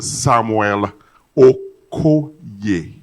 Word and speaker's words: Samuel Okoye: Please let it be known to this General Assembly that the correct pronunciation and the elocution and articulation of the name of the Director ICT, Federal Minister of Communications and Digital Economy is Mr. Samuel Okoye.